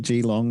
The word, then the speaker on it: Geelong: I got a friend who lives down at Geelong and she's got a couple of spare bedrooms, so she said I can stay there for a couple of months while Nice.